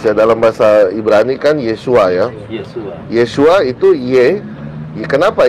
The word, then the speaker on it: Yeshua: Nah, mereka ini memaksakan untuk bacanya Yahshua, bukan Yeshua. Yahshua. Iya betul. Padahal kalau mau dipaksa ke panjangnya harus Yeshua, bukan Yahshua.